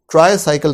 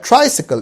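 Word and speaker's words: tricycle: ट्राइसिकल, ट्राइसाइकिल के बजाय ट्राइसिकल, एक ऐसी साइकिल जिसके 3 पहिए हैं, ट्राइसिकल।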